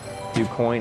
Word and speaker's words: Du Quoin: Du Quoin is how you say it.